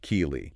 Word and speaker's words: Kelee: And just for clarity, that's pronounced Kelee.